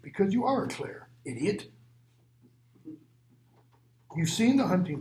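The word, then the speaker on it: Clayr: Or maybe the way we should pronounce that is more like clear. Klore, like in clarify, means to make clear.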